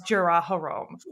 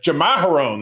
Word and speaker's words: Jamaharon: everybody thinks he wants Jaraharom. So this lady, yes, you know what? I was just going to correct your pronunciation, but Jamaharon, that's it.